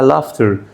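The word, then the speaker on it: laughter: بعدها لافتر الجي اتش مش هنطها فهقول عليها لافتر ودي وديت وديت اكت وديتين ودي اللي بعدها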